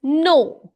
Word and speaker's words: know: यहां पर K silent होता है, नो, ये देखो नो, दोनों ही नो नो करके पढ़ेंगे, लेकिन इनका जो अर्थ है वो अलग है।